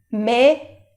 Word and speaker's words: mes: En plural, me, te, se, no, vos, leur. El plural, pues sí, tiene la S y que no se pronuncia.